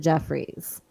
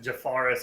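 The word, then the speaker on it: Jeffares: I think he pronounces it Jeffries. He does. We just call him Jafaris on here Because you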